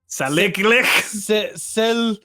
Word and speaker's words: Salik: That, Salik. but like with a lick. Salik lick. Lick. Salik lick. Not like two lick, one lick. One. You only lick the one time.